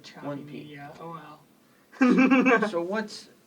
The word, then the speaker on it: Chopy: name is choppy media how do you spell it c-h-o-p-y so there's no extra p yes sir no if you had the two-piece then it would be choppy yeah but we just call it choppy yeah oh well so